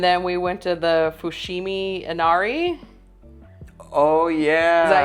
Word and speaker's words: Fushimi Inari: But we dropped off our luggage, and then we went to the Fushimi Inari. Oh yeah. Is that how you pronounce it? Yes. Okay. Yes, Fushimi Inari.